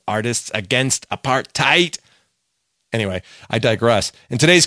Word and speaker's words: apartheid: by the united nations when i say apartheid i say it like that because that's how bono said it in the song silver and gold on their live album rattle and hum when he said a